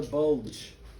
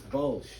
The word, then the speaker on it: Bulge: Okay, many students mispronounce this one. There is no D in this. It's not the Battle of the Bulge. Okay, it's Bulge.